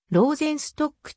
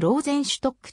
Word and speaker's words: Rosenstock: ちなみに戦前からオーケストラ版員は一貫してローゼンストックと発音したポーランド生まれの本人はヨーゼフローゼンシュトックとドイツ風に呼ばれるのを嫌いジョゼフローゼンストップと呼ぶように周りに要請し n 今日